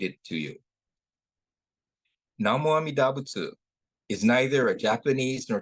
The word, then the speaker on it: Butsu: Butsu is the Japanese way of pronouncing Buddha, which literally means a being who has awakened.